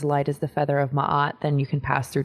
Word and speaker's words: Maat: So for my deck, I based it around an Egyptian principle called the 42 Ideals of Maat. Some actually pronounce her name Maat, but she is an Egyptian goddess, the Egyptians